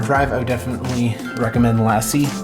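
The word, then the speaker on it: LaCie: a good hard drive I would definitely recommend lassie it's spelled la CIE they make really good drives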